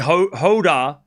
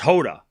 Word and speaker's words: Jodar: It's definitely Jodar. It's Jodar. But I can't roll the R's and I can't say it with the accent.